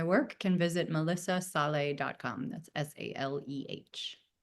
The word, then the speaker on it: Saleh: It is pronounced sal. So that's think about it as and fromly spelled.